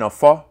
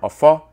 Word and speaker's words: Afa: The O in Afa is a nasal O. When pronounced nasally, the term Afa sounds virtually identical to Afu.